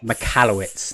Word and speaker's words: Michalowicz: book profit first uh the author's name is mike and i can never pronounce his second malkovich or malkovich mccallum michalowicz that's yeah and uh if